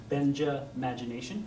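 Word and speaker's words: Benjamagination: Think of the first part of the name Benjamin, Benja. Yeah, and Benja. The last part of the word imagination, imagination. So Benja, imagination.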